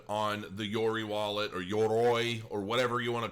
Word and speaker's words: Yoroi: the YORI wallet or YOROI or whatever you want to call it. I know how it's pronounced, but I call it YORI because it's just easier for those of you